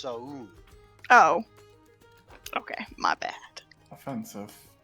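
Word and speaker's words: Soun: so like noun, but with an S. Yes, but it's actually It's actually pronounced Saun.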